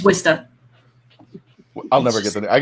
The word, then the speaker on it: Worcester: like where people like it's worcester stir like not twister it's wista i'll never get that